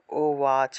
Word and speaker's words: উবাচ: প্রথমে হলো ঋষির উবাচ, অর্থাৎ ঋষি বলছেন, মার্কণ্ডেয় ঋষি বলছেন। ঋষির উবাচ, উবাচ এইভাবে উচ্চারণ করবেন সবাই।